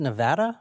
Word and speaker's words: Nevada: Nevada this evening uh it's pronounced Nevada but go ahead is